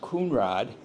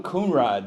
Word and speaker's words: Conrad: The Conrads or being a German community it would have been pronounced Kunrod. So and Veronica was always uh called Frone. So we got Frone Kunrod there and she was a force to be reckoned with.